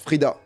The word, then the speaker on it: Freda: on est bien là freda tu veux parler non non ok morale - 5 ça se prononce frida mon petit clip d'entrée